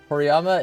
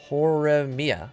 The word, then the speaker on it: Horimiya: Horiyama is my favorite Pokemon. Am I saying it wrong? Am I saying it wrong? Horimiya. Oh, it's Horimiya. Horimiya.